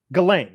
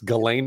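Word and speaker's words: Ghislaine: Um, about Jlane, Gilain, Galain, that's how you pronounce it. I gain Maxwell. It's Galain Maxwell.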